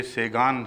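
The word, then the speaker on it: Sagan: गया है तो इसलिए उसको सागा बनेगा एस ए जी ए एन में एन प्रोनाउंस नहीं होता फ्रेंच में और एन की बजाय गुन्ना बाज दफा अदा किया जाता है सागा और लंबे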